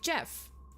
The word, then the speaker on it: Gef: It called itself Jeff, spelled G E F, but pronounced like Jeff.